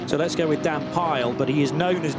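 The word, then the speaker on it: Pijl: The I and the J I'm always told by Dutch friends is pronounced with a Y in English. So let's go with Dan Pile.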